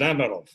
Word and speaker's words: Amirov: I do it with the Russian Amirov. Yeah, Amirov. It's basically one syllable, Amirov.